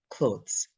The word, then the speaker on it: clothes: people problems in pronunciation because there are two vowels in the syllable and you think, okay, two vowels, O and E, it should be office. But actually, clothes, that O-T-H-E-S, is one syllable, one. So it is said so quickly. It goes from the O to the Z. Oats, oats. So it becomes clothes, clothes.